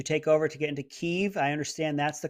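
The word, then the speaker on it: Kyiv: your capital's name correctly keeve i believe that the russians pronounce it kiev so let's not do that uh there's a woman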